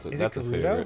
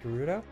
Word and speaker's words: Gerudo: Oh, is it Gerudo? It's pronounced Gerudo?